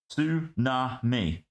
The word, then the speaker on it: tsunami: Tsunami. Yeah, so there's no T.